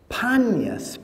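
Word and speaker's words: Paneas: was called Caesarea Philippi, it was called Panias, P-A-N-E-A-S, the city of Pan. But because the Arabs in Arabic cannot pronounce the P sound, it's not in their alphabet. They can't say Penny or Peter. It comes out Benny or Beater with a B sound.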